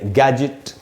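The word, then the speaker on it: gadget: यानी अगर same syllable में डी जी के पहले हो तो वो साइलेंट होगा, जैसे गैजेट। अच्छा दोस्तों, इसको भी कैसे पढ़ना है? गैजेट, गैजेट, ये गैजेट ऐसे हमको नहीं पढ़ना चाहिए, गैजेट।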